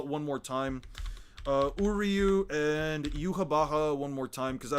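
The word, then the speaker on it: Yhwach: more time, Uryu and Yuha Baha one more time because I don't feel like writing him 3 fucking times. Okay, so. We're gonna discuss it. It's Hebrew pronunciation in German, I guess.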